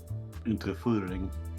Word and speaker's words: Unterführung: Is that how you pronounce that? Unterführung.